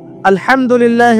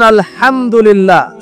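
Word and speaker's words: الحمد لله: আপনি পড়ছেন আল্লাহু আকবার, আলহামদুলিল্লাহি রাব্বিল আলামিন, এই তো আপনি পড়ছেন আলহামদুলিল্লাহ। শব্দটা কি? আলহামদুলিল্লাহ। এই হা এর মাখরাজ কোথায়? হা এর মাখরাজ কোথায় বলেন একজন? কণ্ঠনালীর মাঝখান থেকে।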